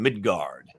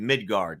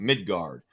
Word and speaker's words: Midgard: So I'm pronouncing it Midgard now. We were looking at the Midgard book. So apparently I was pronouncing it too much like a U. But so that's why I'm emphasizing that. Midgard.